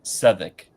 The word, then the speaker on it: Southwark: It's pronounced Southwark. So it's not South, South, and then not work.